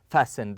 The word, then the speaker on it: fasten: seat belt okay we fasten the T here is silent we fasten the seat